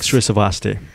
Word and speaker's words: Srisavasdi: Srisavasdi. I finally know how to pronounce my last name.